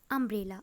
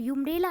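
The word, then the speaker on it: umbrella: तो students, read with me this word अम्ब्रेला। Okay, अम्ब्रेला students you से start है, बट जब इसका हम साउंड करेंगे, इसका प्रोनाउंसिएशन आ से स्टार्ट है, अम्ब्रेला। ओके, हम लोग यूम्ब्रेला नहीं बोलते, अम्ब्रेला बोलते हैं ना, तो अम्ब्रेला बोलते हैं ना, तो अम्ब्रेला।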